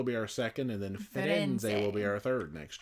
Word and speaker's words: Firenze: I have to get the Italian pronunciation. Firenze.